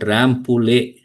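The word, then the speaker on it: Rambouillet: Anyone rampul? Yeah. Not pullet. It's a French name. Ramp castle. Excellent. Rample.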